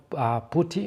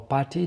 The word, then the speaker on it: PuTTY: a third-party tool called putty or party depending on how you pronounce it and there was not